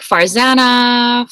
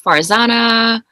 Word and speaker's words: Farzana: okay but yeah like farzana farzana it's just it's such a simple name like it's such a like phonetically simple name and either of those